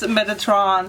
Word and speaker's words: Metatron: know metatron metatron metatron okay so google says metatron so that's what i say so arch angel